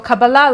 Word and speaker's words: Kabbalah: So the emphasis is more like the end.